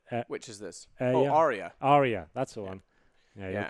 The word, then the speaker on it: Arya: of Thrones one you said which is this Arya Arya that's the one yeah Game of Thrones